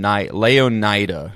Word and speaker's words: Leonida: Sorry, I didn't mean so I was just going to say looking Leon Leonida is the official pronunciation.